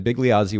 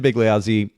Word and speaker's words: Bigliazzi: NZ IE that's pretty straightforward underscore and then big lioi which is b i g l i a